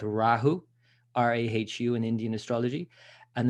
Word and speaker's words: Rahu: to pronounce it properly it's called rahu so you really pronounce the ah rahu and even the sound